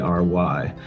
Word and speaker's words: Flocabulary: Yeah, it's Flocabulary. So Perfect. Instead of a B, you just have a FL for vocabulary, but Flowcabulary.